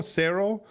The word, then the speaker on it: cero: It's absolutely the Sarah with the O. Cero. That's absolutely how you say it.